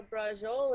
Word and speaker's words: braciole: Yeah, oh, isn't this some sensational braciole? That's what I'll say. No, that's not how you say it. You know what? Don't say braciole, because when you say it, it hurts my ears.